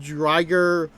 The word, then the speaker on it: Driger: Burst remakes, and they still pronounce it as Drigger. And guess what? I'm sticking with Drigger. I'm sticking with Drigger going forward. So despite the fact that it's technically called Driger technicality, I'm still pronouncing it as Drigger.